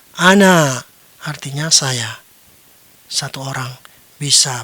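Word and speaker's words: أنا: Ya, bagaimana cara membacanya? Ana.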